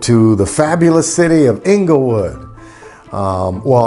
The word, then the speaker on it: Inglewood: the fabulous city of inglewood um well i'm supposed to say it like this inglewood that's where we moved